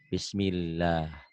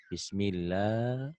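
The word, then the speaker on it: بسم الله: lam ini jadi dobel Nah kalau ada pemanjang ini ini tanda panjang nih ini tanda panjang ini mad asli itu tuh jadi panjang tuh jadi panjang bismillah bismillah bismillah mad asli ya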